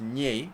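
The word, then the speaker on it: N'Jie: before n comma or whatever nji is actually pronounced ni it's an interesting one but still the ball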